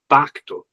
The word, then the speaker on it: pacto: one of the words is pacto, like pact. It sounds like the word pact.